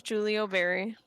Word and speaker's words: Giulio Berry: i know that this how do you pronounce giulio berry it's julie o'berry julia barry person yes